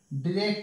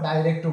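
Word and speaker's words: direct: ইনডিরেক্ট ও বলতে পারো ডাইরেক্টও বলতে পারো ঠিক আছে দুটোই কারেক্ট উচ্চারণ এটা দুটো উচ্চারণ আছে আমি ডিরেক্টও বলতে পারি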